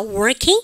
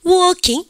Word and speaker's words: working: 미국 애들은 R 발음 합니다. working. 그러니까 영국 애들은요 R 발음 중간에 하지 않으니까 working.